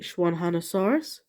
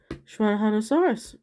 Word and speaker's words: Xuanhanosaurus: uh a zed uh if it starts with an X like this one does you kind of pronounce it as a sh sound like an sh so it's like shwanna had a source instead of X1 oh there's one there's